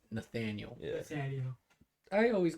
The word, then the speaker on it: Nathaniel: one but um like y'all try to say Nathaniel bro I'll be like Nathaniel and they'll be like Daniel I'm like no come on no I know so it's full it's Nathaniel yeah you know I